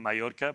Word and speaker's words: Mallorca: Obviously, the Spanish pronunciation, Mallorca, but the English way of saying it is Mallorca. So it's like Mallorca.